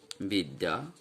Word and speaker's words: বিদ্যা: শব্দের শেষে জফলার সঙ্গে, যেমন বিদ্যা, তাহলে এর উচ্চারণ হচ্ছে বিদ্যা। শব্দের শেষে যখন জফলার সঙ্গে আকার যুক্ত থাকে তখন এই জফলা ব্যঞ্জনকে দ্বিতীয় করে দেয় এবং এই আকারটির উচ্চারণ আয়ের মতোই হয়।